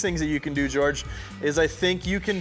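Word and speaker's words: Djordje: To get the day started, we have a video submission from George, and I think that's how you say his name, because it's D-J-O-R-D-J-E. So I'm going to pronounce that as George, because honestly, as a Anglophone, that's the best I can do.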